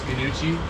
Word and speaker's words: gnocchi: I'm gonna get our gnocchi going pronounce gnuchi actually to proper way look at that flick